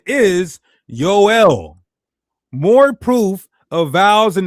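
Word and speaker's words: יואל: Yoel. You get the Yo then you get the L you got two vowels.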